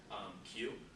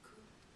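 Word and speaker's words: 九: Q is 9. It looks... Q also pronounces, this one also can have the pronunciation of ku.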